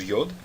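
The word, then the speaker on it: יוד: Como é que nós pronunciamos o Yod? Como o som do I na palavra Yodo. Tá certo? Bem parecido também até com o nome da letra. Yod, lembre-se que o som é o som do I em Iodo. Então, é aquele som semivocálico, até como se fosse o som do Y no inglês, não é? Eles dizem yes, yes. Então, esse som do Y é o som do Yod.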